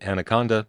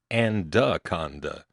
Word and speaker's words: Anaconda: Now here's the time in Anaconda, Montana, which some people pronounce Andaconda. I don't know why the duh gets in there, but, well, anyway, this